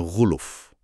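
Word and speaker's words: غُلُف: Sebagian kecil ulama bacanya ghuluf, lamnya domah. Ghuluf beda ya, beda tipis bunyinya tapi maknanya jadi beda loh.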